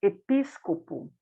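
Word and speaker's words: ἐπίσκοπος: A palavra bispo, que em grego se pronuncia episcopo, também significa supervisor.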